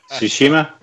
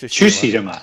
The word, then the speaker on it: Tsushima: Somebody pronounce that last word for me, because I'm just dumb. Ghosts. No. This. Tsushima. I think it's Tsushima. Tsushima.